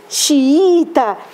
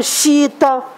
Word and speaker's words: xiita: vem aqui o enjoo aqui xiita eu não falo Chita enjoo vem vou Catinga